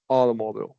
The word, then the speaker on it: automobile: Where where's the primary stress there? If I said automobile. Automobile. Yeah. Yeah. Yeah. Where did you Which syllable is primary stress? Auto. This one right here. Yeah, correct. Yeah, this is unstressed.